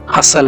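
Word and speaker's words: hustle: चीजों को इंग्लिश में हसल एंड बसल कहेंगे। ये वाला जो टी है हसल में और ये वाला जो टी है बसल में, दोनों साइलेंट हैं।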